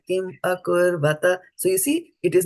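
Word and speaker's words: अकुर्वत: Kim akurvata.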